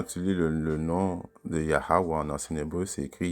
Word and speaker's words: Yahweh: serait Yeshua, Yeshua, ok, mais en ancien hébreu, la prononciation c'est Yahweh, ok, qui est une chose